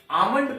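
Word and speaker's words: almond: इसको हम लोग आलमंड नहीं पढ़ेंगे आमंड पढ़ेंगे इसमें एल साइलेंट है इसका अर्थ होता है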